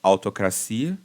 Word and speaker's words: autocracia: chama Autocracia, que é autocracia, né? Autocracia. Aqui em português do Brasil, não me lembro se eu já ouvi em português de Portugal, mas a gente coloca a sílaba tônica no cia, autocracia, entendeu?